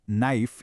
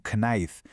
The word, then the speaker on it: knife: Si una palabra empieza por kn, la k se calla, no suena. Me acuerdo perfectamente de pequeño viendo la palabra knife y pensando que se decía algo así como knife, hasta que me corrigieron.